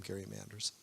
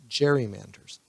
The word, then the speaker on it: gerrymanders: Manders at the time Kari Manders as I said in the previous slide eventually we came to pronounce it as gerrymanders so this is serve